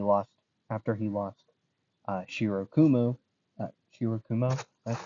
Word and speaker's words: Shirokumo: Shirokumo, that's how you say his name.